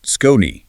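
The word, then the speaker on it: Skoni: If you're a golfer or you're shopping for one this holiday season, you have to check out Scon. That's spelled S K O N I and pronounced Skone.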